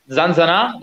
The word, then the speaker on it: ZanZanA: ZanZanA, the pronunciation is good?